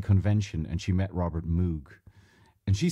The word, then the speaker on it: Moog: he said very clearly it rhymes with vogue that's the usual german pronunciation i like the way that pronunciation sounds better than the cows moog sounds so the real